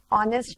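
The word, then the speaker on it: honest: बट इस case में जब मैं आर, ऑनेस्ट मैन, एन आर ये जब यूज करती हूँ तो मैं साइलेंट एच रख के ओ से वर्ड की शुरुआत कर रही हूँ, इसलिए साउंड वॉवेल का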